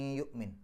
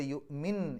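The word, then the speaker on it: يؤمن: അതുകൊണ്ട് യുഅ്മിൻ എന്നല്ല, യുഅ്മിം, അവിടെ മീമിലേക്കാണ് കൊണ്ടുപോകേണ്ടത്.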